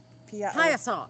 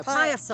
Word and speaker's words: Piasa: Piazza. No, Piasa. Piazza. It's an Indian word. Yeah, PIASAU, I think, but it's pronounced pie, like an apple pie.